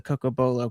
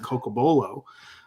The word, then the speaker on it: Cocobolo: So I was curious where the Coco Bolo came from.